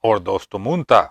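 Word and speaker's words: ὀρθοτομοῦντα: de verdad cortando derecho es la palabra griega que se pronuncia ordos tomunta Y aunque algunos traducieron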